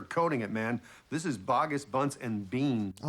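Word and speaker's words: Boggis: This is bogus buns and bean. Oh, it's pronounced bogus.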